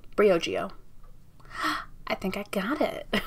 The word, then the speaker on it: Briogeo: Briogeo. So I guess they split it in the middle and it's not like combined. So it's Brio and then Geo. Briogeo.